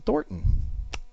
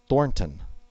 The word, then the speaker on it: Thornton: um and that is designed by Nathan Thorton I do not know him um Thornton Nathan Thornton so sorry I pronounced that incorrectly let's move right along